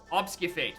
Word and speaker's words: obfuscate: Obfuscate? Obfuscation? It's a variation of obscurity, right? It has the same base word. Obfuscate. Thank you, Schwartz. It's a funny word, and I don't know how it's spelled either.